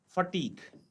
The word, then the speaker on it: fatigue: इसी तरीके के और शब्द हम देखते हैं, जैसे एक शब्द है हमारे पास फटीक, FATIGUE, तो फटीक में भी जो है आप देखेंगे UE साइलेंट है।